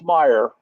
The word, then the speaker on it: Meyer: And you pronounced right. It's Meyer.